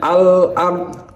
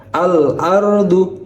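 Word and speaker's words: الأرض: Jadi, bacanya alard jadi jelas alard. Mari kita bedakan antara asyamsyamsiyah dan alqamariyah. Jika asyamsiyah bacanya asalatu jadi samar-samar. Sedangkan alqamariyah dibacanya sangat jelas. Alardu. Jadi pengucapan hurufnya sangat jelas.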